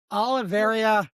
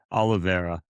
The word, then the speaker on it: Oliveira: Also, fellas, I've said last week, Oliveira kind of did I say it wrong again? Oliveira. Oliveira.